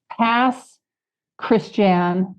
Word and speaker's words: Pass Christian: Christian Mississippi it's okay Pass Christian and it's the Cajun pronunciation of Christian okay and now where